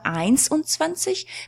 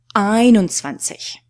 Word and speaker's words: einundzwanzig: So there's no S after 1. So it's not 1 und 20, but 21.